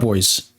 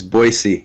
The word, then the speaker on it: Boise: of 2024 and I'm joined by PSG club boys is that how you pronounce it it's it's boisey yeah it's we americanize the word yeah if